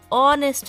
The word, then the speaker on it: honest: Again, honest, we have letter O, which is a vowel. Because H is silent, we are pronouncing from letter O, honest man.